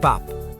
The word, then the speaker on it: 밥: Put them together, you get bap. Sounds just like Bob.